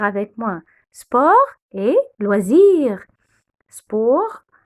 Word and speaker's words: sport: Sport, on ne prononce jamais le S à la fin.